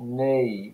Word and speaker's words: knee: is reflective of that we have words like knee where over time the uh the sound in the initial position has dropped away so originally people would have pronounced this word as kanee or knit knight and then over time that that sound has disappeared okay so what's happened